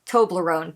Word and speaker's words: Toblerone: float like a Toblerone that word is actually to my knowledge just pronounced Toblerone three syllables but he stretched out